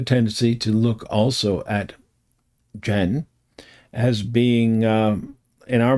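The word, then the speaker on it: Chen: This idea of of sound and loud and um those things or with Jen. Okay. Spelled C H E N.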